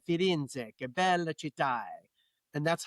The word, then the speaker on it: Firenze: And he always said, Firenze, che bella città. And that's how I know how to pronounce that.